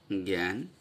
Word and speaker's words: জ্ঞান: যেমন আমরা যখন লিখি জ্ঞান, তখন এই বর্গীয় জ ঞ এর উচ্চারণটা গ জফলা আকার মানে এ, যেটা এটা আসলে ঠিক জফলা নয়, এ উচ্চারণ করতে যেটা আসে এ একার বলা যায় জ্ঞান, এরকম করে লিখতে হয়।